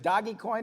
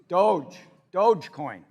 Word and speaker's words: Dogecoin: which a year ago, is it Doggycoin or Dogecoin? Dogecoin. All right, I have 10 Dogecoins, all right? A year ago, 10 Dogecoins, for sake of argument, was worth $1,000, so $100 a coin.